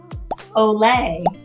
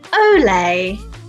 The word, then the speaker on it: Olay: Olay. Olay.